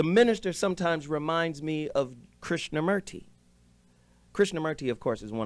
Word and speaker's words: Krishnamurti: And the Hindus say it correctly. It's not Murti, it's Morti, right? Morti, Didn't know right? how to spell it with O.